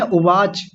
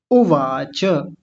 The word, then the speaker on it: उवाच: गलत बोलते हैं। उवाच। उवाच। उवाच नहीं है। उवाच उवाच उवाच पता है कब होता? जब इसके नीचे हलंत लगा होता। यानी च आधा होता। जब ये च आधा होता तब कहते उवाच।